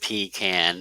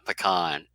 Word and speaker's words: pecan: don't like it well the freeman people pronounce it pee can the uh bob lazar say uh pecan clearly that's cause you're an